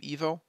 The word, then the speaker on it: 1V0: The EVO system pronounced like the Bulgarian name EVO.